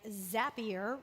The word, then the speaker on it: Zapier: it 99 design and zapier rhymes with happier they're clients of ours